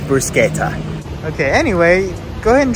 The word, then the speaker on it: bruschetta: eat at pizza chiro this is the bashetto i don't know not sure i'm gonna ask him how to pronounce it okay so we asked the guy how to pronounce it and it is bruschetta okay anyway go ahead